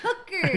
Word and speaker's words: Hooker: GF double H's Henry rhymes with Booker except with an H hooker yeah HD and hooker